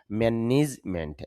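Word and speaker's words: management: ম্যানেজমেন্ট বলতে পারি বা শুদ্ধ উচ্চারণ যদি আপনি ধরেন তাহলে উচ্চারণটা হবে ম্যানিজমেন্ট।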